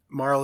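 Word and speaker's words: Marle: there he's my friend Marl is the right way to pronounce this name it's just too funny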